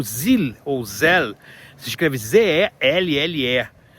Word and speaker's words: Zelle: Nos Estados Unidos nós temos o Zelle, ou Zelle, se escreve Z-E-L-L-E, tá?